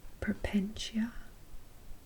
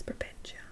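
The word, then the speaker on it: Porpentina: pronouncing your name wrong it's poppin it's propentia i thought it was prevention it's so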